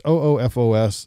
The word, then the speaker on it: OOFOS: actually for camping the the ufos offos sandals best recovery sandal it's oofos never i've never known